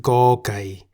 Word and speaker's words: ก ไก่: That is the Thai consonant Go Gai, which we can summarize as a consonant that sounds like the G in the word get at the beginning and end of a syllable.